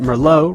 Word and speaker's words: Merlot: Remember that Merlot rhymes with Sloppy Joe.